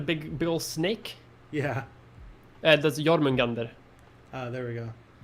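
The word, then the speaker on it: Jörmungandr: That's Jormungandr. There we go. I might not have the best pronunciation of that because it's Old Norse, which is like 1,000 years ago. But I think it's Jormungandr. Question for Mia: is Grindr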